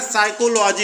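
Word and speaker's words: psychology: word ये लिखा है साइकोलॉजी साइकोलॉजी मतलब होता है मनोविज्ञान इसमें हम देख रहे हैं पी एस वाई सी एच ओ एल ओ जीवाई साइकोलॉजी में य पी साइलेंट है तो दो नंबर का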